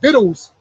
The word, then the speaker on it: victuals: Actually, it's pronounced biddle. Yeah. Like I knew it was spelled. Like they say that's the English language, man. But it's called biddle. Biddles. Behold, victuals shall be good. So like victuals.